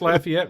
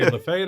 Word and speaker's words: Lafayette: Plus, you pronounced Lafayette right. My daughter's going up to school at Old. They say Lefay up there and they're wrong.